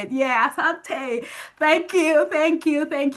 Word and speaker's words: Asante: Is it Asante or Ashante? How do you say it? Yeah. Asante.